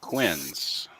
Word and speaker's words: quinces: it ain't here so it's pronounced quins Quinns yeah yeah and